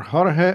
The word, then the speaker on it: Jorge: This has been Martin Pitella and George Urena, or Jorge Urena. Let's say it properly as it should be, because we all have tradition.